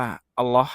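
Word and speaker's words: الله: รู้ จัก ก่อน คำ นี้ คือ คำ ว่า อัลเลาะห์ นะ ครับ อัลเลาะห์ ก็ คือ ชื่อ ของ พระ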